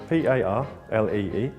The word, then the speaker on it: Parlee: Can you tell us how do you pronounce your name and how you spell it? Yeah, it's P-A-R-L-E-E, Parlee.